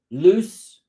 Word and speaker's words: lose: pronunciation okay loose loose lose lose it's longer and it's like a z there's that fly again